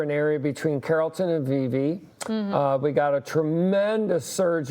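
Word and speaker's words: Vevay: Is it Vive? Tell me. I think you're correct. Vive, I believe, is the correct pronunciation.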